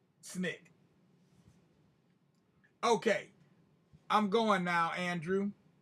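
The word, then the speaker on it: SNCC: student non-violent coordinating committee or snick which we pronounced snick okay i'm going now andrew will you take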